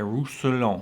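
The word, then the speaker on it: Roussanne: the fancy Gard bottles Gard apricot de rouson which is exactly how you pronounce that now rouson is a village in France uh obviously this Gard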